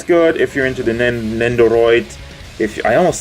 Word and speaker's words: Nendoroid: Nendoroid. Did I say it right now? Hold on. Nendoroid. Yeah, it's correct.